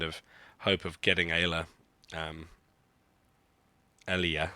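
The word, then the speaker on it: Aayla: My Ayla is not even unlocked. I'm not really doing this with any kind of hope of getting Ayla. Alia, sorry. I just pronounce it wrong.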